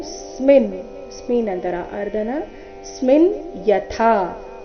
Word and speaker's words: ಯಥಾ: ದೇಹಿನೋಸ್ಮಿನ್ ಯಥಾ ದೇಹೆ ಕೌಮಾರಂ ಯವ್ವನಂಜರಾ ತಥಾ ದೇಹಾಂತರ ಪ್ರಾಪ್ತಿ ಧೀರಸ್ತತ್ರನ ಮುಹ್ಯಯ್ಯತಿ ದೇಹಿನೋಸ್ಮಿನ್ ಯಥಾ ದೇಹೆ ದೇಹಿನೋಸ್ಮಿನ್ ದೇಹಿನೋ ಸ್ಮಿನ್ ಸ್ಮಿನ್ ಅಂತರ ಅರ್ಧನ ಸ್ಮಿನ್ ಯಥಾ ಥ ಇಲ್ಲಿ ಮಹಾಪ್ರಾಣ ದೀರ್ಘ ಯಥಾ ಅಂತ ಬೇಡ ಯಥಾ ಎಂದು ಬರಬೇಕು ದೇಹಿನೋ ಸ್ಮಿನ್ ಯಥಾ ದೇಹೆ